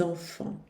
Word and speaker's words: enfants: ter que dizer les enfants, as crianças, les enfants. O T e o S no final não se pronunciam.